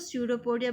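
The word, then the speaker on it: pseudopodia: स्यूडोपोडिया, ठीक है, इसमें भी पी साइलेंट, इसको स्यूडोपोडिया बोले जाएगा।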